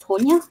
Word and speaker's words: Tanya: Well, I've been watching Tonya Maguire, and her name's spelt Tanya, but I think she says last night is pronounced Tonya, because one of the